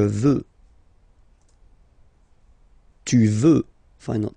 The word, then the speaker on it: veux: Final X not pronounced. Je veux.